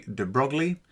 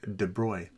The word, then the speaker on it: de Broglie: Now, before I go on, you might read this as Louis de Broglie. That's not how you pronounce it. It's Louis de Broglie.